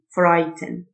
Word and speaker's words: frighten: نامي developing developing يخيف frighten الGH silent frighten خوف fright fright خائف